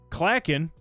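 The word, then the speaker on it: Clachan: Matt uh Clatchin is pronounced clacken if you're cliggity clacking on a on a keyboard.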